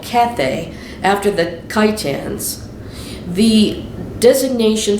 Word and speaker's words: Cathay: china today and that's spelled c-a-t-h-a-y kind of like kathy but a little bit different there isaiah 23 1-3